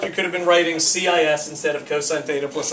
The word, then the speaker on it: cis: is abbreviated as r c i s theta it's usually said cis theta even though cosine has a hard c but we just don't want to walk around saying kiss theta all the time yeah um so you